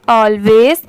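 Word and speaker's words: always: हैं ऑलवेज ठीक है लास्ट में स की साउंड जरूर आएगी क्योंकि जहां पर भी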